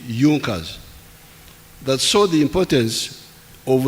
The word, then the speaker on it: Junker: It is written Junkers, but they pronounce it Junkers, that saw the importance of a united German market.